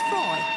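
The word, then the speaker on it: Froy: By the way, my name is Freud. Did you say Freud? No, Freud, not Freud. Freud. I'm sorry, I can't hear you. Freud rhymes with joy.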